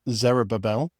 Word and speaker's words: Zerubbabel: Now, Zerubbabel, which is how you say it, so don't think I got it wrong there.